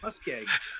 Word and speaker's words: MussKeg: I was gonna say nutmeg because it rhymes with MussKeg. Okay. Which is my name, MussKeg.